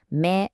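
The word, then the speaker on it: 目: I mean, they're literally about you.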